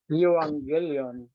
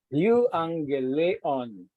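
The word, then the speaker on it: εὐαγγέλιον: But if you pronounce it in the Greek way, no, yung sa Greek talaga ay parang grade 1 lang, no? Or kinder pa. Okay? So it is pronounced as Euangelion. Euangelion. Pag English, Evangelion. Okay.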